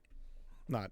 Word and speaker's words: Kenai: Kenai. Not a keen eye, but like Kenai.